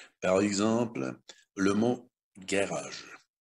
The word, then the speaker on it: garage: Первая буква Ж не стоит ни перед E, ни перед I, ни перед Y. Следовательно, она будет произноситься как звук Г.